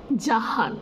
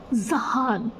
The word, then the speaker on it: জাহান: তো আমার প্রপার উচ্চারণটা হচ্ছে জাহান, নিশাত জাহান। But after coming here it became Zahan, Zaha. I'm like, why? What? How? I don't understand.